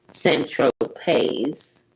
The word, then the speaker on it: Saint-Tropez: Tropez, pronounced Saint-Tropez.